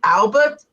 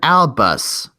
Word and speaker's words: Albus: Wait, that friend of yours that you said that helped you out on the furnace railway, did you say his name was Albert? I said Albus.